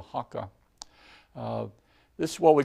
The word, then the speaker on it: haka: to look at is called a haka sometimes called hookah but the I like the this seemed to be a closer to the pronunciation is called the haka this is what we